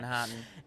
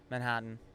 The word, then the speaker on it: Manhattan: Manhattan. If you were to talk to people, they don't pronounce the A in the Manhattan. Manhattan. Manhattan.